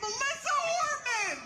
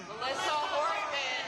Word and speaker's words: Melissa Hortman: Melissa Horman. Melissa Hortman.